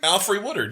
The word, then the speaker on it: Alfre Woodard: Played by the amazing, how do you pronounce this name? Alfre Woodard, yeah.